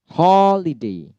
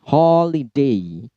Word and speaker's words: holiday: Holiday. Ho-nya yang di stress. Holiday. Holiday. Holiday. Li dan D-nya rendah tentunya. Holiday.